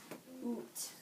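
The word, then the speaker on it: Út: So it looks like ut, but how do we actually pronounce it? Oot.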